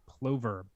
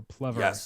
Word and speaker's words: plover: know you're looking at a plover or pluto depending on how you pronounce it either one is either one is correct i mix it up